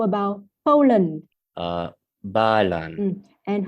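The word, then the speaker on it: Ba Lan: Balan.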